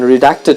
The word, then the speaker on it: redact: and goons are often redacted from newspapers I guess it's because people tend to find religion in everything nowadays any now let's do it again redact the stress is on the second syllable it means to remove